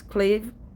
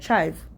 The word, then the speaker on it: chive: Clave? No, I'm not saying it right. Chive. Okay, chive, yep.